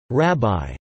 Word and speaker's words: רַבִּי: Sephardic and Yemenite Jews pronounce this word ribi ribi.